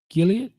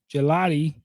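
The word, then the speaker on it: Gillotte: Edge Ashton Gilead. Did I say that right? Gelatti. Gelotti. Like the gelati that you eat. Louisville.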